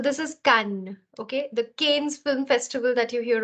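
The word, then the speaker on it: Cannes: in France every year it's actually not canes it's can this is the a sound sorry this this here is the a sound the S will remain silent and this is a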